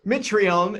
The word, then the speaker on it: Mitrione: all the time so Mitrione it's a silent E is favored at minus